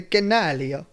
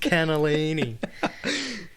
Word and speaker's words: cannellini: Why is there no poodlinis in the canalio? That's poodles in a kennel. Why is there no poodlinis in the canalio? It's pronounced cannellini.